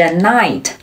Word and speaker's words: knight: 还有其他的词，比如 knife knife knife 刀子，或者是 knight knight knight 骑士，这个词